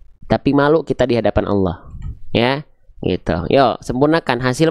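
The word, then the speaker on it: الله: Tipiskan, bukan Allah, tapi Allah.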